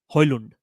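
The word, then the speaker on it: Højlund: And it's Rasmos Hand. Hund if if you really go for the Norwegian um sorry Danish uh pronunciation.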